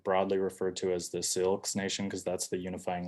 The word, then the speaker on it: Syilx: And that is in the Syilx language. It's spelled out here.